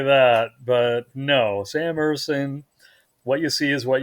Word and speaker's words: Ersson: And it was written that Sam Ersson, is that how you pronounce his name, Ersson? Yeah.